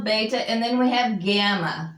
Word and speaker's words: gamma: Alpha, beta, and then we have gamma, which is your G. Gamma. It's always going to be hard as in God. Never a soft G. Remember I told you. No soft G sound, no J in the Greek, okay?